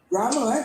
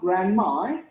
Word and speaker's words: grammar: i like to study grammar grammar not grandma because some students because i remember some of my students sometimes they pronounce grammar as grandma meaning it and sometimes